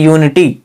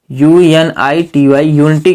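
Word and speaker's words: unity: से हो तब एन लिखेंगे यदि स्वर से उच्चारण नहीं हो रहा तो उसके पहले हम एन नहीं लिख सकते जैसे यूनिटी यूनिटी के पहले हम ए नहीं लिख सकते ए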